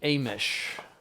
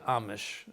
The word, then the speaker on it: Amish: the Amish some say Amish mostly Amish but according to normal English pronunciation should be Amish because and the if it's sitting in its own syllable it's it's long as a rule so it should be